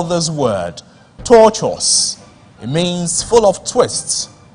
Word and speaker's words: tortuous: The word is pronounced tortuous. Bonus to Mana International School. Tortuous. Take it. Torturous.